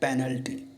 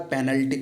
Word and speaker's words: penal: यहाँ पे पेनल नहीं है, यहाँ पे पिनल है। स्पेलिंग यही है PENAL, लेकिन वो है पिनल, इंडियन पिनल कोड, भारतीय दंड संहिता।